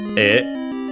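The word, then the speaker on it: へ: Then we have uh e written as he but uh again it's uh pronounced e in this case because it's the particle uh to towards so direction not the possessive particle so it's a a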